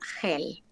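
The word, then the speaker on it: Geel: se encontraba se llama Hel. Se pronuncia Hel, se escribe G-E-E-L.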